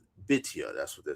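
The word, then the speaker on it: Bithiah: In point of comparison, the Hebrew name Bethia is properly pronounced Bitia.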